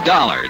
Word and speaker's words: Dollar: was Buzz I didn't it's dollar Johnny dollar dollar huh yeah rhymes with collar I always like to